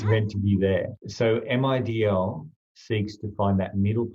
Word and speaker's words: MIDL: If you pronounce MIDL, it sounds like middle.